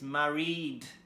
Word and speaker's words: married: So we pronounce this as married with the D sound. We don't do married or married. It's married. Okay, example number 4.